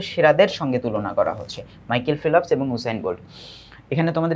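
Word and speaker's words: Michael Phelps: তালিকাটা অনেক বেশি বড় বড়সরই এরপরে coyote big মাইকেল ফেলপস মাইকেল ফেলপস যদিও এল এর পরে ও নাই কিন্তু উচ্চারণ করতে হবে মাইকেল ফিলপস এন্ড উসাইন বোর্ড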